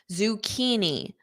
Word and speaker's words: zucchini: zucchini zuuk keini keeni that CH H becomes K zukini zukini spinach spinach notice